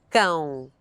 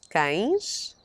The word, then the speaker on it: cão: Ães, cão, cães, pão, pães. Words ending in ão, but with a written accent stressing the syllable before the last, usually have the plural ãos.